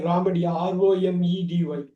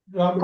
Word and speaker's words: Romedy: இவ்வளோ வேர்ட்ஸ் இருக்கா, நமக்கு தெரிஞ்ச வேர்ட்ஸை இப்படியெல்லாம் யூஸ் பண்ணுறாங்களா, இப்படியெல்லாம் ப்ரொனவுன்ஸ் பண்ணுறாங்களான்றோம். அந்த சேனல் நம்ம நேம் மட்டும் நோட் பண்ணீங்க, ராமடி, ROMEDY. ராமடி.